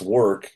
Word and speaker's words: WERC: WERC or pronounced work is the only professional organization focused on warehousing, distribution, and fulfillment and its role in the supply chain.